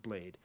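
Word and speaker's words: Bladee: It's pronounced Blade. I was told by Drainers that it's okay to say Blady because he said in one song that some people call him Blady, and if he didn't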